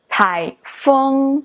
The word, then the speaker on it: 台风: know is typhoon and in chinese it is pronounced as tai fung if you break this word into characters you